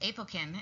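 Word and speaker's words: Apokyn: have it work and this apokin is how it's pronounced and aplicon is a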